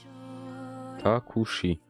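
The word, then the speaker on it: タクシー: Takushi. Mais normalement, voilà, avec le prolongement, Takushi. C'est un taxi. Et le shi, le i, est prolongé, d'où on met la barre.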